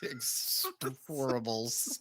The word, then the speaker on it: Expend4bles: Is it Expendables 4 or is it Expend4bles. Expend4bles.